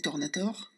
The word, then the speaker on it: Tornatore: on va commencer par Jean-Louis Tornator, on prononce comme ça, Ouais, ouais, comment qui